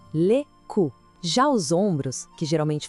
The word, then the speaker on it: cou: Começando pelo pescoço, que em francês é le cou. A pronúncia é bem direita, olha só, le cou.